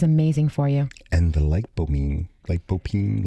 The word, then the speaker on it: lycopene: And the lycopene, like how do you say it?